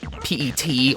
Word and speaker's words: PET: terminal or p-e-t or pet i was pronounced a p-e-t supposed to be pronounced pet i think saying